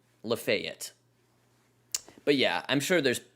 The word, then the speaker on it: Lafayette: And there is a town that looks like it should be pronounced Lafayette, that is pronounced Lafayette.